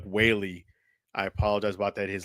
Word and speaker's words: Whaley: I thought she said Doug Whalen. It's Doug Whaley.